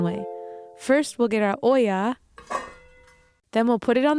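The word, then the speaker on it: olla: good question in Spanish the way we say pot is Oya let's all say it together Oya Oya Oya Oya excellente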